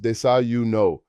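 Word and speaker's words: desayuno: Breakfast is desuno, pronounced desauno.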